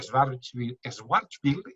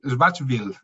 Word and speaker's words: Schwarzschild: también por la teoría de la relatividad, que Schwarzschild, que nunca consigo pronunciar esa palabra, de verdad.